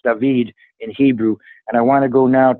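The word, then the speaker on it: דוד: and I want to go his name is pronounced dahveed in Hebrew and I want to go now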